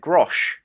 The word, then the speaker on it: grosz: Grosh. Yeah, so it's the plural of grosh. So it's in the singular, it's GROSZ, and it can have the Y at the end or the E for the plural.